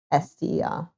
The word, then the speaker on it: Chichester: Chichester. Yeah, you do say the second C in Chichester. So yes, Chichester. The CE makes a ch sound as well as the CH making a ch sound.